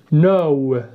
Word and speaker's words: know: هم هو الضمير they، يعرفون know، know لاحظ معي النطق ننطقها هكذا know بدون أن ننطق k، إذا نقول know، know